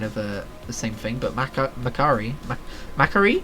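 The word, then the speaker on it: Mac'Aree: Antoran Wastes and Croccoon are kind of the same thing, but Macari? I always say Macari, but I hear it pronounced as Macari a lot.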